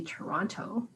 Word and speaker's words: Toronto: know that canadians say toronto they don't say that maybe somebody from toronto won't say toronto no trump but the t at the last t is silent it's like toronto toronto